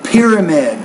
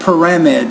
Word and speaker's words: pyramid: want to say a pyramid or a triangle, not pyramid. So that's a word stress problem. Again, pyramid.